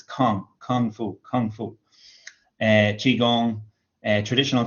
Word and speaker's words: kung fu: fu be careful because that's how it's pronounced in english it's pronounced kung kung fu lots of people talk about it in chinese but they use the kind of chinese pronunciation they'll say gongfu or gong gong kind